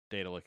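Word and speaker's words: Daedalic: Scrolls are oh um it's like Daedric yeah so data lick is correct yeah well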